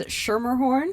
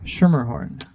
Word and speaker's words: Schermerhorn: my last name is schermerhorn schermerhorn it's not super difficult you just drop the c at the beginning she's in the culinary